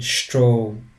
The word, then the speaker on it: Strom: as in English, but the S changes its sounds to sh, like in Sport and like in Strom, which means current in German.